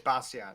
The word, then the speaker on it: Bastiat: Am I pronouncing your name? No, my name is Bastiat. That's Bastiat.